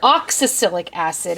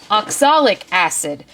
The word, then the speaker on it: oxalic acid: actually contain um and I'm going to have to Prov um pronounce this properly oxa oxalic acid and um they say